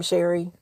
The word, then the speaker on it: Sherry: Um scary rhymes with with my name, Sherry.